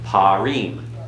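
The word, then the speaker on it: פרים: Parim follows the pattern of Dam.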